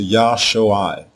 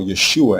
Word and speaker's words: Yeshua: When we add the letter Wah, the pronunciation changes to Yosuai.